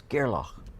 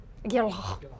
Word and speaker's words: Gerlach: You got to use the Scottish pronunciation. Yeah. It's Gerlach. Gerlach.